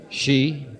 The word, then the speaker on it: ski: She? That's the right way to pronounce S-K-I, George.